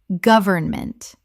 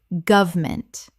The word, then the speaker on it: government: deterioration deterioration Word 293 government Common mispronunciation government Correct pronunciation government or government Three syllables in careful speech, often reduced to two in natural speech.